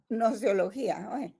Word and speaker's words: gnoseología: es que no se no se pronuncia la g solo nosología nosología muy bien y solo